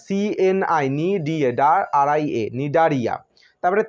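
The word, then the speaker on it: Cnidaria: 2 নম্বরে নামের শুরুতে সি আছে, কিন্তু সি এর উচ্চারণ হবে না। নিডারিয়া, CNI, RIA, নিডারিয়া।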